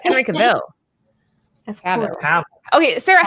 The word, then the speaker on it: Henry Cavill: It's Henry Cavill. Cavill. Okay, Sarah, how do you pronounce his name? We were debating on this. Cavill? Henry Cavill. Cavill. Yeah. Not Cavell.